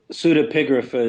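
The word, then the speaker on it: pseudepigrapha: Pseudapigria is usually the noun. And if you try the adjective, you got to twist your tongue a little more. Pseudo pigraphical. At a couple of drinks, just say in the pseudapigria. Don't try the pseudapigraph.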